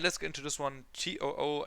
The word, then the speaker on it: TOO: TOO, I believe, is the right pronunciation. At least that's what the MC, Jung Sung Kyu, on Road to Kingdom pronounces them like. So I will just use that one, I guess. Although it looks like the English word two, you know.